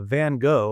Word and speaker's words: Van Gogh: Although interestingly, uh, Van Gogh or Van Go, depending how you pronounce it, uh, he you can't